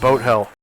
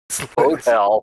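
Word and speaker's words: Bothell: In uh in Norwegian, both is it's pronounced Boat Hell. Boatell. It's literally the town is called Boat Hell in Norwegian. Wow, that would suck. But we pronounce it both because people from Washington are stupid.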